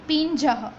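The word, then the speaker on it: पिञ्जः: उसका प्रोनाउंसिएशन कैसे करेंगे, तो पिंजह, पिंजह।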